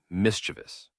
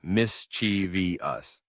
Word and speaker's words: mischievous: Finally, let's look at mischievous. Many people add an extra syllable, saying mischiev us, but it's actually mischievous. Only three syllables, not four.